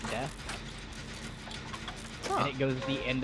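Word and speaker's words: です: It's spelled D-E-S-U, but pronounced death.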